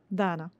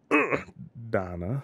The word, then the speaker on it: Dana: to my friend Dana did I say that right Dana Donna dang it yeah you got it Donna Donna and how do